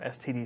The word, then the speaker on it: std: been seeing so far and we have a stood string or STD string depending on how one chooses to pronounce it some people also pronounce it standard so it's the standard library it's the standard